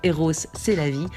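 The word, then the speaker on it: Rrose Sélavy: En 1919, il nous hypnotisera avec sa machine optique, nous priera de toucher les œuvres, surnommera son alter ego féminin R. Rose, c'est la vie, à prononcer Eros, c'est la vie, un abécédaire remarquable qui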